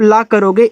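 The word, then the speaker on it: lake: आगे यल ए के ई, तो यल से जब ला करोगे ए का उच्चारण एक ही मात्रा, के से का, ए आपका लेक हो गया।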